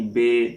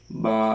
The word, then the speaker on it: ب: لہجہ میں ادا کریں، اردو تلفظ سے پرہیز کریں، یعنی بے، تے، سے، ح، خ، توئیں، زوئیں وغیرہ ہرگز نہ پڑھیں، بلکہ با، تا، ثا، ح، خ، طوا، ظا وغیرہ ایسے ہم نے پڑھنا ہے ان کو۔ اور فرماتے